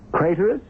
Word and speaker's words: Craterus: Craterus, which rhymes with traitorous.